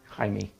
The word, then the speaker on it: Jaime: And Colombia, oh, so it's Spanish, so maybe it's, how do you, is an initial J in Spanish, is it pronounced like an H? Like Jamie? Jaime, H-A-I-M-E. Welcome, thank you, good.